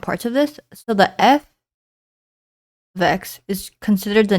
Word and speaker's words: f(x): f ofx is pronounced f ofx and not f * x.